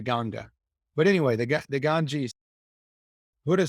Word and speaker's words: Ganga: It's spelled Ganges. So you would think it's called the Ganges. It's actually called the Ganga.